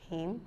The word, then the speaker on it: hymn: we must know them so n says is not pronounced when it comes after M at the end so once n comes after n it is not pronounced Autumn hymn column Salem damn condemn